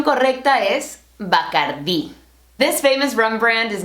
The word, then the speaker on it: Bacardí: El único ron que tomo es Bacardí. Not Bacardi, sorry Cardi B, Bacardí. Notice that accent on the I.